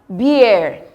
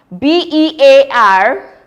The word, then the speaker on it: beer: You have beer. B-E-E-R, bear, beer. B-E-A-R, bear. Take note. Can you see the disparity? Please don't confuse them.